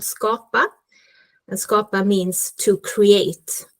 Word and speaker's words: Skapa: pronunciation but I didn't is it scappa is it how you say it I think we will get to that but it's scopa which means create in Swedish okay so sorry